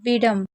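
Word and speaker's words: wisdom: इसे पढ़ते हैं विडम। अब यहां पर क्या होता है? एस साइलेंट होता है।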